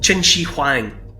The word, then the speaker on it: Qin Shi Huang: the first emperor and the first syllable or the first sound of his name is chin and it's chin that becomes China so he gives his name